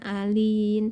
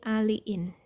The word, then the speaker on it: aliin: dialil disulfida 60% dan aliin nah bacanya bukan Alin tapi aliin ya penggunaannya atau kegunaannya